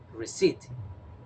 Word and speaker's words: receipt: when you buy something okay let's see the pronunciation receipt repeat after me receipt and in receipt we don't pronounce the letter